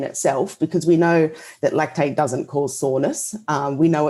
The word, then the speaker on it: lactate: So the pronunciation is lactate, not lactade.